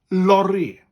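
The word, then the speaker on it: lori: would say laurie and the welsh version for that word is laurie with a rolling ah lorry lorry spelled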